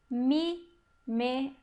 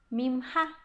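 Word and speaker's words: ממך: Pode ser que vocês escutem pessoas que falam hebraico, conhecem hebraico há muito tempo, até mesmo judeus, falando palavras como essa daqui, pronunciando mimha, quer dizer, de você. Eu recebi um presente mimha, de você.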